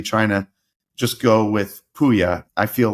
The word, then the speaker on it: Pouya: I would say Pouya, and they'd be like, Pouya.